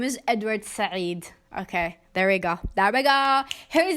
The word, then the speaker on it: Said: I think it's Sayed, or is it Saeed? Can we have hold on, let me Google this real quick. Okay, his name is Edward Said.